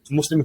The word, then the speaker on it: MVSLIM: And Creed and Culture and Muslim Influencer Network, I've got their own websites. That's right. We have a third brand within our group as well called Muslim, spelled with a V, MVSLIM, which is a global digital publication.